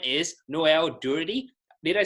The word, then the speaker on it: Noel Durity: for all of you well his name is noel dirty did I say your name right I'm very bad with pronouncing sounds to make sure and you did